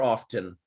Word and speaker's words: often: I heard you many times pronouncing the word often, like often, by mentioning the T, and we used to study that word as the T is a silent letter. So is it, do they, let's say both of them are acceptable? You can use both. You can say often or often. Both are okay.